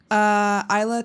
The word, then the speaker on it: Ajla: Ajla, and the J is silent, but it's AJLATOM. The J is silent like Jane.